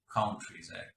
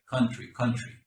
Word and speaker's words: country: The pronunciation again of the word country sounded kind of like countries. It's very, very common in Latin American countries for them to say countries, country.